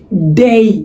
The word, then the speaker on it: day: প্রথমত আমরা আসি দিনের উচ্চারণটাতে। দিন, আমরা সাধারণত দিন ইংরেজি কি বলি? ডে। কি বলি? ডে। খেয়াল করেন, আমরা বলি ডে, DAY, ডে। ডে না, এটার উচ্চারণ হবে কি? ডেই।